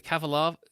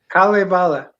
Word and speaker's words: Kalevala: Like that so the ca- go on, you pronounce the Kavalav. It's not that. What is it? Kalevala.